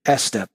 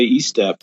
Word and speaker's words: Estep: I have with me a writer, Richard Estep. Is that how you say your name? Estep? Yeah, it is. Well done, Chris. Most Americans say E-step for some reason, but Estep it is.